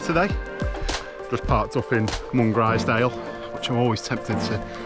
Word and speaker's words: Mungrisdale: zoo blind Catherine today just parked up in one grisdale which I'm always tempted to pronounce as long as they'll uh when I'm assured but locally it's pronounced Mongrel style so I'll try my best to uh to